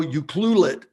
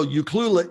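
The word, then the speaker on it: Ucluelet: it took me years to learn how to pronounce euclid you know you cluelet you know and so you cluelet you cluelet i have to keep saying it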